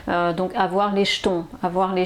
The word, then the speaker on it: jetons: sur sur l'écran donc vous avez vu ma prononciation c'est comme si euh c'était un ch que vous entendez donc avoir les jetons avoir les jetons voilà donc je coupe